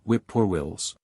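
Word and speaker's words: whip-poor-will: of the north have by onomatopeia called whip poor Wills three syllables which exactly reprodu their cries dick sand and Tom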